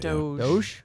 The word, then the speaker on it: DOGE: Not Dodge, that's not how you say it. Doge.